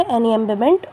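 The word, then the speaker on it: enjambment: ई एन जे एम बी एम इ एन टी। इसमें जे silent होता है। इसीलिए इसे एन एमबेबेंट बोलते हैं।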